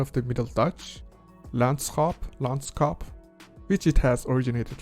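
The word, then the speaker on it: landschap: middle Dutch into English in modern Dutch is pronounced as Lance hop meaning the condition or scenery of the land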